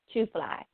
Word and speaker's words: Tooo Flyy: Now, Dymond's Radio is the name of the show, but my name is Tooo Flyy, TOOFLY. You got to say it how it's spelled, okay?